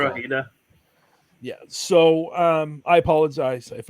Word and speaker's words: Drogheda: Drogheda.